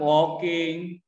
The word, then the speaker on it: walking: Present participle-nya tetap walking. Ini bacanya gimana? Walking. Kalau Cuk Paluki mah mulutnya kayak mau baca A, tapi dibilangnya O.